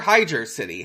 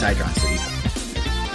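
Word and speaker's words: Hydrocity: to Hy hydrosity or hydr city however you choose to pronounce it it's hydrosity yeah I in my heart I think hydrosity uh but it's like oh it's a waterer City so Hydro City but it's like okay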